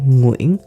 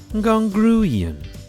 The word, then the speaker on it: Nguyen: is a big challenge if you're saying gongrian i'm going you are wrong no worries in this